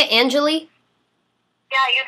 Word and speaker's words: Anjelah: calls with my fans hello hello is this Angelie oh my God yes is that how you say it Angelie yeah you said it perfectly oh good I